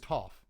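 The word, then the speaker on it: Toph: I really have to watch this show. Apparently, I'm mispronouncing everyone's names. Like, everyone is so mad at me for saying to over and over. Apparently, it's Tooff.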